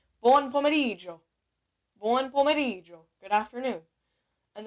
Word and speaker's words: buon pomeriggio: Don't pronounce the I know people are so tempted to go buon pomeriggio. No. I mean, I'm sure Italians will know exactly what you mean, so don't worry about it. But try to say buon pomeriggio. Pronounce the G and the I. Almost like you're saying Joe. Instead of Gio, say Joe.